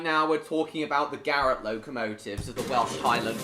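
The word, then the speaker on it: Garratt: It's not called a carrot engine either! So that's why you said carrot. No, Garrett.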